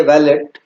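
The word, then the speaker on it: valet: तो कई बार इसकी प्रोनाउंसिएशन जो है वो उसमें टी साइलेंट भी रखा है, वैले भी इसको पढ़ देते हैं। तो दोनों तरीके से इसकी प्रोनाउंसिएशन है।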